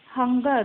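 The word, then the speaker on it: hunger: हंगर, क्योंकि इसमें last र जो है वो साइलेंट है.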